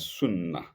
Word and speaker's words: sunnah: In Islam, we respect sincere faith and two righteousness in accordance with the Quran and Sunnah. Full stop. Suna is spelled s u n a h in Arabic language is sunna.